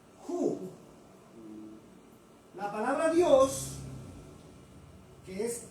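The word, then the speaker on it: הוא: En hebreo se pronuncia ju.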